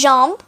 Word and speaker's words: jambe: Okay, so if, for instance, you've written J-A-M, because the pronunciation sounds a bit like that, like jambe, jambe. I'm actually saying jambe, but maybe you couldn't get a chance to hear it properly. So you write J-A-M, which is jam in English language. It's pretty common, like a little bit funny, if you ask me. So, the pronunciation is jambe, so you might confuse it. You might even write jam and add a B.